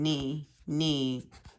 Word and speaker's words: knee: Oh, and then knee is also a silent K.